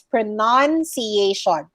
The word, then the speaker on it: pronunciation: to the noun pronunciation there's no letter o over there so it's pronunciation but if you are